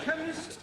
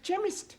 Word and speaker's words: chemist: me k e n chemist does not begin with a k it sounds like it begins with k CH H but that is making it chemist no the CH is